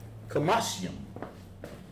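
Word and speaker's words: חמשים: Kamashyam.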